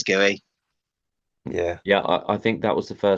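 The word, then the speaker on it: Guéhi: Is it Mark Gui? Yeah, Mark I think Gay. it's Gooey.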